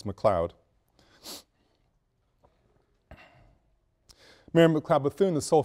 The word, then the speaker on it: McLeod: And the spelling is correct and the pronunciation is correct. It's McLeod.